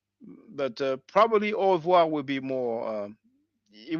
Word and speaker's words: au revoir: you know I guess with the American or English accent you will pronounce it like au revoir you know the r is different but oh it's basically